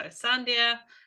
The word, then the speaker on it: Sandhya: This is how you pronounce it, is Sun, and then Dia. So Sandhya is a traditional Kerala name from the southern parts of India.